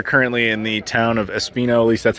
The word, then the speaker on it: Espinho: So again, we are currently in the town of Espinho, at least that's how I pronounce it, which is apparently completely wrong, and I do not doubt that for one second.